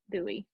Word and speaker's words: Bowie: felt like Bowie like David Bowie okay it's pronounced Dewey sir how long have you been there since